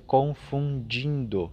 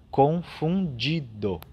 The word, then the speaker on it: confundido: um pouco difícil né ela parece um trava-língua confundido a gente corre o risco de dizer confundindo não confundido então cuidamos bem é